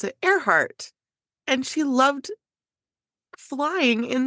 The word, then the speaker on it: Earhart: realized with her last name because it's spelled like ear heart but you pronounce it aart and she loved flying in the SK guy